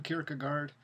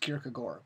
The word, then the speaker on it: Kierkegaard: graveyard so and also in Danish I understand that it's pronounced Kierkegaard I for forever since